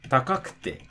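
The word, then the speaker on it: 高くて: For example, if you wanted to say like yokute, takakute, mijikakute, again, the drop is going to be before the ku. So yokute, takakute, mijikakute.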